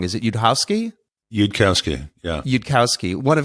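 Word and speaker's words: Yudkowsky: from Elia zarur I always say his last name wrong is it you'd hausky you'd Kowski yeah you'd Kowski one of his great quotes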